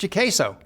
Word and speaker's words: JCASO: contingency acquisition support office or as we pronounce it gaso i'd like to thank